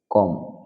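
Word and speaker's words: comb: কোন কোন শব্দে বি লেটারটা উচ্চারিত হবে না সাইলেন্ট থেকে যাবে কম মানে চিরনি ল্যাম্প মানে ভেড়া টম মানে সমাধি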